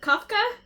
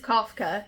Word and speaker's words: Kafka: Kafka Is what I pronounced it as. Yes. It looks like Franz Kafka.